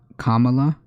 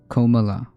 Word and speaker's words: Kamala: whatever they can it's kamala not komala kamala it's pronounced kamala like a like a comma oh kamala okay perfect